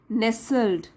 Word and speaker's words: nestled: नेसल्ड T silent है, नेसल्ड मतलब बसा हुआ।